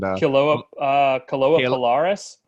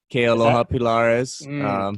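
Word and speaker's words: Kealoha Pilares: And Kaloa Pilaris? Kealoha Pilaris. Yeah. I'll save you the pronunciation there, but yeah, Kealoha Pilaris.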